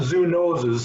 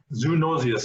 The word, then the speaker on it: zoonosis: here we introduce and that's not zoo noses as a zoonosis zoonosis is the way we pronounce that usually and how prevalent are